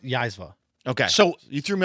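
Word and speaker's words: Zyzzyva: It's pronounced Yaizva.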